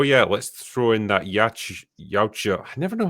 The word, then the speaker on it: Yautja: Clank Clank, I'm a Tank says, "Oh yeah, let's throw in that Yautja." I never know how to say it. It's Yautja.